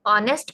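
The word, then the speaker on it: honest: क्यों नहीं लगाया, क्योंकि एच प्रोनाउंस ही नहीं होता, ये साइलेंट लेटर्स हैं, ये म्यूट लेटर्स हैं, और ये इसको हम एन और पढ़ते हैं और एन ऑनेस्ट पढ़ते हैं, इसलिए ओ ओ की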